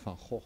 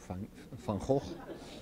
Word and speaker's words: Van Gogh: To start with Van Gogh, we pronounce him Van Gogh, but I will say like you, Van Gogh.